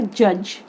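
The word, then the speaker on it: judge: Next example है हमारा जज। जज में डी जो है हमारा, ये हमारा साइलेंट है।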